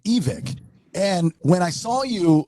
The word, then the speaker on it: Evick: say whatever you want but I pronounce it evic okay well you should